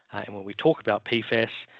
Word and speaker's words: PFAS: And when we talk about PFAS, we say PFAS or PFASs in relation to that is the correct way to say it.